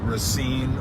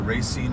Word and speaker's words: Racine: Wisconsin and from the Milwaukee Racine or Racine I know that you can pronounce it either way area my grandmother who